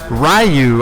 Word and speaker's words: Ryu: that's there too yeah so so rayu I believe is the uh the the Gin pronunciation if I may use a Japanese word there um I believe it's I it's probably either it's probably most likely it's Ryu right most likely it is Ryu it is Ryu zor's